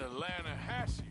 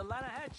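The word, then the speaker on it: Lannahechee: some beautiful steelhead trout you made an Atlanta hasse River no no no no no no the Atlanta hedge it runs right near here yeah but it's pronounced then it has why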